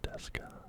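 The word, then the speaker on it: ですか: O Genki desu ka? Just how are you, or are you well? Just basically, it's a way of asking somebody. O Genki desu ka? Again, not pronouncing the U. Desu ka?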